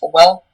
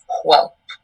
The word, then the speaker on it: whelp: And there's a few pronunciations. There's whelp and whelp.